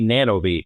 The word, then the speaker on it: Nanovis: Yes, we still get feedback that we don't say it right, but we can say it however we want, right? We chose to be Nanobi.